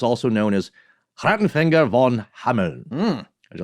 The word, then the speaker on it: Hameln: In German, I'm going to do my best here, is Hameln with a soft N.